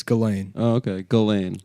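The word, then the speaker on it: Ghislaine: ] sent those pictures of Gain at like Gizlane?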